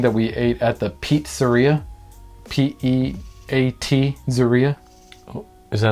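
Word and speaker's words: Peatzeria: There was one evening that we ate at the Pizzeria. P-E-A-T Zeria. Is that like a pizza or not a pizza? Yeah, it's a pizza place, but they spell it P-E-A-T, like Pizzeria.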